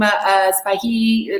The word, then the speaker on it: Sbaihi: First of all, let me introduce Maxim Sbaihi. Let me know if I'm pronouncing your last name correctly.